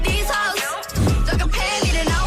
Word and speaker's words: Heaux: This song is actually called "These Hoes," but it's spelled HEAUX.